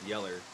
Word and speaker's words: Yeller: Old yellow refers to a dingy yellow curr dog with the same with the name acting as a double antandra for the dog's coat color pronounced yeller and its bark which sounds like a human yell.